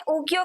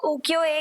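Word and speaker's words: ukiyo-e: को लेकर के जिन्हें उकियो के नाम से जाना जाता था और स्पेशली इन्हें प्रॉपर्ली अगर प्रोनाउंस किया जाए तो उकियो एए के नाम से जाना जाता था इन प्रिंट्स को और उकियो का मतलब क्या होता है?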